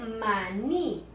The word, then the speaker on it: maní: Y esta que dice maní. En esta última es, la leemos un poquito más fuerte porque tiene una tilde.